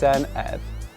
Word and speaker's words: Senedd: It's pronounced Senedd, which literally means parliament in Welsh.